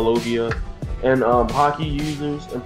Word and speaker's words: logia: called uh loia um I always pronounce that wrong as loia logia and um hockey users